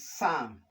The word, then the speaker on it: psalm: Why this is psalm? The p is silent.